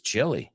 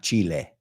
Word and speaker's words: Chile: man, this place is chilly. No. The place is chilly. That's a great one. That place is chilly. El país en inglés se pronuncia chilly, not Chile.